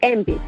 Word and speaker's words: AMBE: makes a MBE and you're supposed to read it like MV and I was confusing